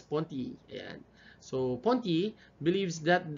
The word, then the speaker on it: Merleau-Ponty: It's pronounced as Ponty.